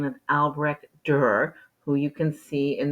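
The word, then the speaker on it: Albrecht Dürer: spelling of his name his name is both hard to spell and hard to pronounce it's alre dur um and there should be the two dots over the U and I didn't put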